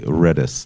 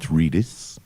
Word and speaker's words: Redis: remote dictionary server and you spell it like that but you read it like redus not redis it's open source as